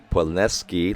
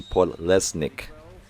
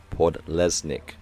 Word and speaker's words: Podlesnik: I realize I've been pronouncing Podleski like he's Polish, but it's actually Podlesnik. Podlesnik.